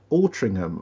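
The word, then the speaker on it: Altrincham: How do you pronounce that? Ultringham.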